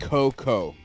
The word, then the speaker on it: Cocoa: ken's and it's pronounced coco pronounce coco coco i just want to just take the a out yep they could and